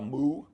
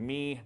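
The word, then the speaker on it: μ: Okay, some pronounce it a mu, some pronounce it a nu. I learned it from a German, so I got a little umlaut on mine. I learned me, ni.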